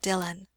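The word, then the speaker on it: Dillwyn: Dylan Dylan M repeated that is the pronunciation of the name it is spelled D i l l w y n dwin but it is called Dylan and who was the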